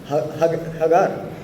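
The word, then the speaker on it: Hagar: हगार और हैगर what robin भाई कैसे उसको प्रोनाउंस करेंगे? हगार हैगर हां हेगर हेगर ओके हेगर जो है सही प्रोनंसिएशन है हिंदी में हाजिरा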